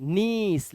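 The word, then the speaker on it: niece: seize क्या है believe नीस ठीक है निश नहीं नीस लास्ट वाला ई साइलेंट है बताया था ना अभी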